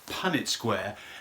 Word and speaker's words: Punnett square: The only critique I have is the correct pronunciation is Punnett Square.